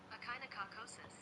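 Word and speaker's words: echinococcosis: Uh pronunciation. Let's see here. H a kind of cacosis.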